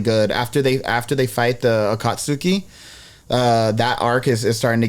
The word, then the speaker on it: Akatsuki: It's the Akutsuki. I don't even know how to say it, but Akatsuki. that was from Shippuden. No, Akatsuki.